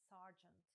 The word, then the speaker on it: sergeant: Слово «сержант» англійською вимовляється не зі звуком «ё», як натякає написання, а зі звуком «r» – sergeant.